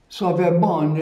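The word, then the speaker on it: Sauvebonne: Sauvebon is spelled S-A-U-V-E-B-O-N-N-E, Sauvebon.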